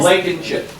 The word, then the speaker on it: Blankenship: I messed- Blankenship. Yep, I'm telling you. Like eat a bag of chips.